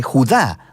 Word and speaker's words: Judá: La carta de Judas, o más precisamente Judá, de acuerdo con la pronunciación de su nombre tanto en griego como en hebreo.